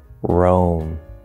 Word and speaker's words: Rome: But for example, loan, foam, moan, Rome. Yes, the name of the city in Italy, R-O-M-E, notice O-E, is also pronounced the same as R-O-A-M.